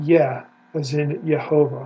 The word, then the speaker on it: Yah: It is ah, a vowel, ah. Okay? If we want to look at it in the Hebrew Bible, Exodus 15:2, right there it is, ya. That is the first syllable of the divine name, ya.